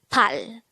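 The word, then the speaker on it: 팔: next to sign the korean version of number eight is hal again it's pal from number one up to this number we have noticed that they're just composed of one syllable pronounce this again with me pal how do we spell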